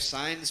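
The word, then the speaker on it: Sainz: actually said it right for once i have signs because really good driver in this yeah i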